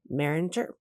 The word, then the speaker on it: Maringer: And today we have Joe and Martha Maringer, hard G.